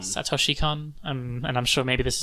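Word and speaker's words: Satoshi Kon: How do you pronounce his name? Sutter Chacon. Sutter Chacon.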